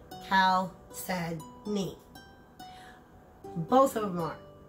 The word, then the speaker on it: chalcedony: Okay, now, just to make it clear, both of these are chalcedony, pronounced chalcedony.